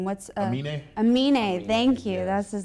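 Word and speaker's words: Aminé: I can't even pronounce his name. What's Amine? Amine, thank you.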